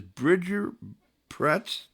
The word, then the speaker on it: Bridger Pretz: Ladies and gentlemen, this is Bridger Pretz.